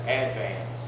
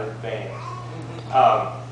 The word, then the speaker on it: Advance: And that's how you pronounce it, Advance, not Advance.